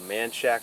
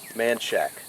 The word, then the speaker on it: Manchac: They call this swamp the manshack swamp. That's Say that word again. Manshack. M- an C H A C.